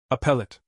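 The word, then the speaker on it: appellate: A lot of people struggle with the word appellet. It refers to appeals courts where lawyers challenge the outcomes of earlier trials. And yes, it's pronounced like appeal.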